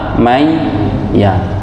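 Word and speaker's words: مَنْ يَ: Man ya dibaca may ya.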